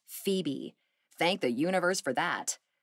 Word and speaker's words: Febe: humility and sincerity but everybody called her Phoebe pronounced Phoebe thanked the universe for that her sister was